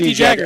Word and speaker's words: De Jagger: It's just D Jagger is how you say it.